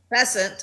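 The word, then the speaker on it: Bessent: Besant, I think is how you say his name.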